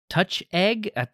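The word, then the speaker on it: Touchégg: Well, that just means to me it's touch egg. That's what it means. Gotta add the emphasis. Gotta add the emphasis on the eh.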